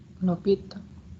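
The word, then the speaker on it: L'Hôpital: Kita punya aturan, ini bacanya apa kira-kira? L'Hopital.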